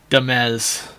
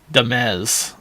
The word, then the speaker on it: Dumez: It's duh, like dumb, then mez, like mez, not maze. Dumez. But mez like fez, with an accent on the second syllable. Dumez.